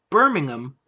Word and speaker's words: Birmingham: will also be in Birmingham notice I said I said it right it's berming them over it up over in Europe I know the difference don't worry it the Genting Arena